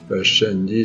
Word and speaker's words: Pascendi: Pascendi, c'est-à-dire P-A-S-C-E-N-D-I, ou Pascendi, si vous voulez, avec la prononciation du latin classique.